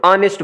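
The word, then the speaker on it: honest: फिर यहाँ पे देखें आ की आवाज़ निकलेगी और ऑनेस्ट बनेगा, और एच यहाँ पे हमने लिखा है क्योंकि एच साइलेंट होगा, और साइलेंट के लिए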